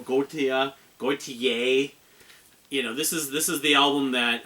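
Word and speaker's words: Gotye: I pronounce his name Gautier or Gautier.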